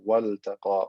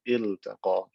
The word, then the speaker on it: التقى: In this case, because this is not lam at-ta'rif, it's a lam for a verb, I'm going to pronounce the lam clearly as waltaqa or iltaqa.